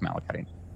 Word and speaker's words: malachite: I think it's malachite. But you can't really tell like the word. That's how it's pronounced.